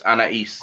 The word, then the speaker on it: Anahis: It's spelled Anahis, but the H is silent, so it's Anais. Anais. Okay. Anais.